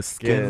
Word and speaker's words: SKKN: oh, it's like spelled like SKKN. Yeah, Skin by Yeah, Kim.